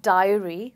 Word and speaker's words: diary: only one sound so dairy has the eh sound and Diary has the I sound.